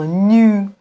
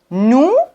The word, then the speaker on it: nous: nous vous nous vous on doit pas dire nu vu non nous vous mais j'ai deux questions